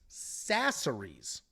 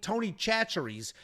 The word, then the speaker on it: Chachere's: It's Sasseries. which is crazy. I was calling it Tony Chachere's, and it was big ass Bo.